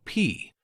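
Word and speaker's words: P′: Suppose you have point P located at 3, 4.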